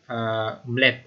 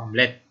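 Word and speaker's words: UMLet: Nah, ada start UML dan ada kemudian UMLAD atau Omlet atau Omlet ya bacanya ya.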